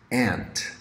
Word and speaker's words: aunt: is your parents sister aunt pronounced ant then moving on next